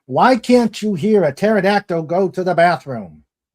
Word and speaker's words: pterodactyl: Just for that, why can't you hear a pterodactyl go to the bathroom? The P is silent.